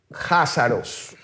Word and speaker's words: jázaros: Se pronuncia Cásaros, que se pronuncia así, Cásaros con K, pero suena Házaros con J.